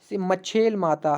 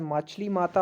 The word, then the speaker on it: मच्छेल माता: भी बता दूं कि मच्छेल माता, हाँ, जो मुझे कल प्रोनाउंसिएशन में गलत हो गया, मच्छेल माता ही है, तो इसको शायद मछली माता हो गया था।